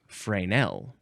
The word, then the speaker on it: Fresnel: most Americans they're like they see that s and they want to pronounce the s but I think the more more proper pronunciation would be uh frael.